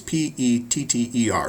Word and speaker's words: Petter: I spelled their name wrong on the PowerPoint, but you can see on the book it's Petter.